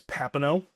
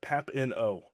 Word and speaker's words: Papineau: So, last name is Papineau. It's French. Uh easiest way to ever try to remember it, pap-in-oh.